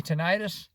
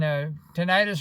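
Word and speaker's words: tinnitus: that's probably masked by my ttis and tentis or tenus is pronounced either way but I've had that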